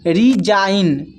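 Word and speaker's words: resign: तो जब जी के बाद एन आए तो जी साइलेंट होता है। तो यहां पर देखिए जी के बाद एन है तो जी यहां पर साइलेंट है। इसको पढ़ पढ़ते हैं। रिजाइन डिजाइन कमपेन। तो इन सभी में देखिए जी के बाद एन आया हुआ है तो जी सभी में साइलेंट है।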